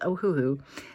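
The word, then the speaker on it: Ohuhu: kind of funny and I didn't think I was saying it correctly but I talked to my patreons and we're all in the same consensus that it is ohohoo so I feel like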